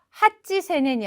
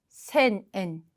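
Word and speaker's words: 八千円: 그래서 3000엔은 산젠엔 그리고 8000엔도 핫지세넨이 아니라 핫센엔 그리고 만엔은 그냥 만엔입니다 이렇게 표현하지 않고요.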